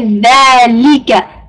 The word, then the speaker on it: ذَلِكَ: Make sure that you say dhalika. Make them sharp, inshallah. Dhalika. Don't say le, say li, inshallah.